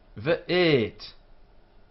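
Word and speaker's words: ואת: V'et. Notice we say this as V and not as W, and as T, not as Th.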